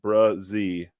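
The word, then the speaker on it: Bresee: Clemson and uh uh pronounced brazi is uh how you pronounce it brazee and um I I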